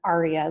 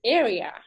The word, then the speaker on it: ARIA: at understanding many coding words, but didnt understand ARIA like in ARIA which is an acronym, so I am wondering I pronounce it "area" so thats something!!